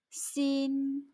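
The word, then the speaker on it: 心: 마음 심자를 쓰고 중국어로 xin 일성, 씬 하고 소리냅니다. 마음, 씬.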